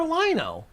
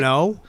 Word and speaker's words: Lion-O: But you want for Lino? I said it wrong. How dare you? It's What's wrong with Panthro. Lion? you No, know, Jesus I love Christ, I haven't- Lion-O.